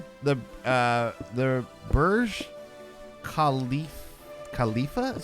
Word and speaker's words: Khalifa: what i mean the uh the burj khalifa khalifa is how you say it burj khalifa verse